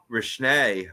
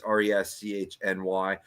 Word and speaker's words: Reschny: But just Coots and Rishny, and I'm mispronouncing that. It's Reschny.